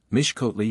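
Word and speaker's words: Mixcoatl: first some little difficulty the letter X is invariably pronounced as sh so that mix scal and mle are Viva voi Mish kotle and mes Lee the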